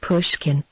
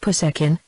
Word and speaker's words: Pushkin: likeness to the Italian even the name Pushkin she pronounced it puskin and glinko sounded somewhat